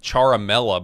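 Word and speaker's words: Ciaramella: The guy's name is Eric Charamela, but it's spelled CIA.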